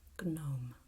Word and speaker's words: gnome: One, the Italian way, is a soft, fluid, palatal and nasal sound, gnomo. Okay? While in English you have this guttural sound, gnome.